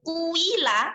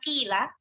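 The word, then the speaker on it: قيل: Nah, karena di sini dibacanya ketika bacaan ismam itu menjadi kuila, ya kan, bukan kila, maka di sini dibubuhkan tanda bulat di atas huruf, karena di situ qafnya berharokat dhammah kan.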